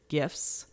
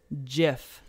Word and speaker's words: GIF: uh steve wilheit created gifts in uh 87 and he actually feels that it should be pronounced jiff not gif jif but but we